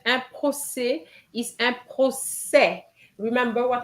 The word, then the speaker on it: procès: them, you know that an E with an accent grave gives you the S sound and the final S is silent, then un procès. Um, procès.